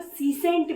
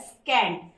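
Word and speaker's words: secant: हमारा है स्कैंड स्कैंड स्कैंड को बहुत लोग सी सेंट भी पढ़ते हैं बट इसका एग्जैक्ट प्रोनाउंस एशन होता है स्कैंड एस ई सी ए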